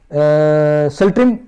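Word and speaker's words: Tsultrim: सल्ट्रिम, इसको टी को साइलेंट ही बोलते हैं, सल्ट्रिम चिंजौर, तो वेरी वेरी इंपॉर्टेंट।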